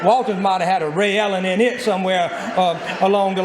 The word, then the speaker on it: Ray Ellen: But it's Ray Ellen, not Raylan, not Raylyn, it's Ray Ellen.